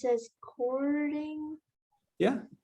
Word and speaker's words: Körding: i pronounce it as chording yeah coding is the german pronunciation but all americans call me codding okay wonderful um so